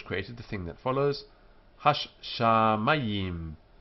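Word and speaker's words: הַשָּׁמַיִם: Hash shamayim. Hash shamayim. Four syllables. Hash. The dot here indicates the shin is doubled. Sham. Mayim.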